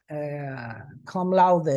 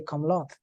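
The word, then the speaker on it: cum laude: you last semester a friend graduated laude University come loud well if you if you are an American or English speaker and you don't know that that come louder is Latin you would say come Lord come lock yes but it's come loud yes because it's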